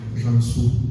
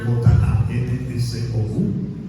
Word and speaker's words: Jansou: Aclaro que mi apellido se pronuncia Jansou, es un poquito complicado, se escribe J-A-N-S-O-U, que es Jansou para servir a Dios y desde luego a cada uno de ustedes.